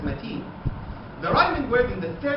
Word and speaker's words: متين: The first two lines in the source show perfect heteronym with the repetition of the same word matin, but with different pronunciation. First as metin, second as matin.